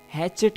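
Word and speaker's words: hatchet: कुल्हाड़े को इंग्लिश में हैचेट कहेंगे, हैचेट। इसका जो टी है वो साइलेंट है, याद रखिएगा।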